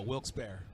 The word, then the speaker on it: Wilkes-Barre: I'm pronouncing that right correct looks buried no wilkes-barre wilkes-barre okay here we go again